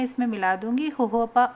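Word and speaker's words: jojoba: इसके अलावा मैं इसमें मिला दूंगी होहोपा ऑयल के 5 से 6 बूंदें। ये बेस्ट मॉइस्चराइज़र है, इसे जोजोबा भी कहते हैं, स्पेलिंग इसकी जोजोबा आएगी, पर ये बेस्ट मॉइस्चराइजिंग होता है लिप्स के लिए।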